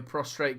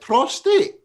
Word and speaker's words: prostate: that is uk only a prostrate cancer i know i'm not saying it right frank and myself i've